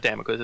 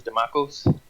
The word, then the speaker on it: Demakos: It's not Damokos. It's Demakos. Demakos.